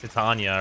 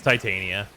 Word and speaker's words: Titania: to tell you like Titania all over again yeah like you're supposed to say it like to Tanya or whatever but like it's Titania that's that warframe's name what's up babe you